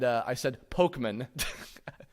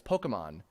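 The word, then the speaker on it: Pokémon: parts of this, because I said Pokemon, I was pronouncing it as Pokemon. When I was reading through the magazine, and then my mom pointed out, no, honey, that's an apostrophe on top of that E. It's Pokemon.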